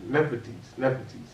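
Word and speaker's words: Nephthys: Nepetes.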